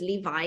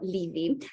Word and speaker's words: Levy: Mitchell Levy, yeah, we just discussed the pronunciation of his surname. I thought it was Levi. He said no, Levy.